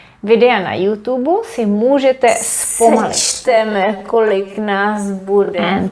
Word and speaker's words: zpomalit: Zpomalit, this is pronounced as S, zpomalit, to slow down.